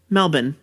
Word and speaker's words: Melbourne: Graceland like one word Graceland like in Australia Melbourne Melbourne yes Melbourne because that's like there that's